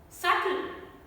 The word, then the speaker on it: subtle: In BT combination words also, B is silent and only T sound is pronounced. Death, not debt. How unnatural would it sound? Debt. So, debt. Doubt. Subtle.